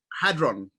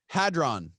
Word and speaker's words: hadron: hadron collider yep how do you say it hadron hadron yeah but i'll explain that yeah alex what